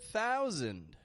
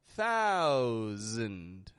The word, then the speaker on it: thousand: and it's the word thousand. Thousand. A wonderful example. Notice, once more, how I'm not pronouncing the S as an S. I'm pronouncing it as a Z.